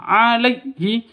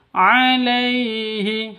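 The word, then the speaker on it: عليه: karena bacaan izhar qiqqin Alaihi alai sifat Lin lentur lemas tidak boleh disentak tidak boleh dipanjangkan alaii alaii salah yang betul Alaihi begitu bala wdanaii Haq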